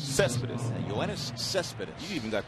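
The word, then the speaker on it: Céspedes: Cespedes. Cespedes.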